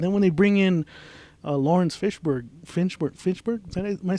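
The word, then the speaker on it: Laurence Fishburne: And then when they bring in Lawrence Finchburg, am I saying it right?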